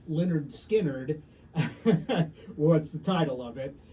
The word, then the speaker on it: Lynyrd Skynyrd: album uh so the debut album pronounced Leonard skinnard What's the title of